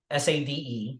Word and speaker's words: Sade: how to spell it s-a-d-e sounds like Sade or you know okay